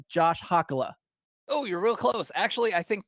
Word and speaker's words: Hakala: that's actually how it's pronounced, but my family pronounces it Hakala. And Hakala.